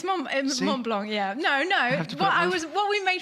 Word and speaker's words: Mont Blanc: Yeah, it's Mont Blanc. Yeah, no. What we made fun of you of because you said, "Oh, my favourite place is Mont Blanc," and I said, "Well, you can't just say that.